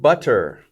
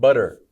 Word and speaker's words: butter: the word butter and the way I just said that with the T sound is usually not the way you'll hear native speakers say it when they are speaking quickly uh usually it will be two T's together will often be a D sound butter okay butter or even